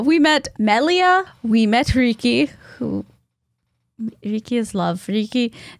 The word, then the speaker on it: Riki: Also, Kaffy has been in Japan for too long, and R-I-K-I would be pronounced more like Riki.